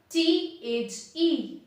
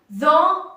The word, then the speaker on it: the: करते हैं, कौन सा, THE। तो THE आर्टिकल जो सुपरलेटिव डिग्री से पहले लिखा जाता है उसे हम कैसे प्रोनाउंस करेंगे, उसे हम द नहीं कहेंगे, उसे हम कहेंगे the nearest hotel, the tallest person, clear.